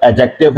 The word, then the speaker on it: adjective: डी का एक कायदा है कि अंग्रेजी में एक कायदा बना हुआ है कि डी के बाद अगर जे आ जाए तो डी अमूमन साइलेंट होता है।